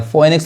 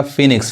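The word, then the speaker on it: Phoenix: फोएनिक्स नहीं पढ़ाएगा, फिनिक्स।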